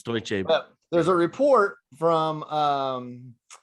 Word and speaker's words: Deutsche Bank: Recently, Deutschbank. Deutschbank. Is that right? Am I saying it right? I It's close enough, man. It's Deutsche Bank.